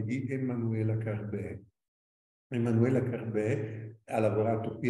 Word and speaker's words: Carbè: È la prima monografia Emanuela con due M, Carbè con l'accento grave sulla E.